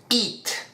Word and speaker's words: eat: Eat. Eat es el verbo comer. Se pronuncia con una I seca, una I en español, eat.